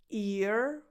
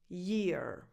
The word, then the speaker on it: year: So these two words are pronounced differently. This is ear, ear. This is year, year.